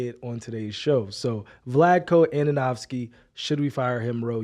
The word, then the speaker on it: Vlatko Andonovski: needed to say it on today's show so vladko ananovsky should we fire him Ro yes or no